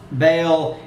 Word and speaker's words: Baal: The word is probably the constructed form of HY2, commonly pronounced Baal, spelled B-A-A-L.